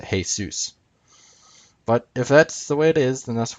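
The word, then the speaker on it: Jesús: Jesus means hail Zeus because in Spanish you pronounce that hey Zeus but if that's the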